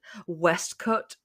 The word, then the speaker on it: waistcoat: John Gray books and they would say waist waistcoat but they the the British guy pronounced it West coat oh it's just it's the most British pronunciation all over my West cut or something like that I was just like